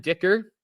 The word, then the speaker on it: Dicker: You can rhyme it with kicker. Your position your your last name rhymes with your uh what what's it? Your last name rhymes with your position.